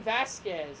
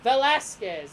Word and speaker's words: Velasquez: his name came back Cain Vasquez I think well Velasquez there you go Velasquez Cain Velasquez that's his name getting it that's his